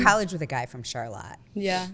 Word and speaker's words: Charlotte: So, um, Charlotte, not to be mistaken with Charlotte. Charlotte, even though it's spelled exactly the same way.